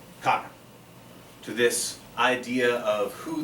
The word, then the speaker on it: Khagan: This is pre-Mongolian, so So not a Khan, there's an extra syllable in there from the earlier Turkish linguistic forms.